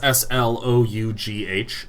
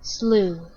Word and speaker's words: slough: Slough, as in a snakeskin. Otherwise, slough. Also American, slew.